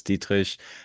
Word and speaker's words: Dietrich: Uh, the proper German pronunciation of my full name is Dietish. However, for the English speakers of of your audience, Dietrich will work just fine.